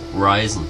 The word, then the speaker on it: Risen: Manche sagen Risen, manche sagen Risen. Ich habe am Anfang auch Risen gesagt.